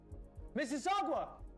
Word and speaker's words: Mississauga: Mississauga! It's pronounced Mississauga, but yeah.